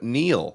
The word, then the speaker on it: Neill: And cast and crew, we got Sam Neill. Am I saying it right? Neil? Is it Neil?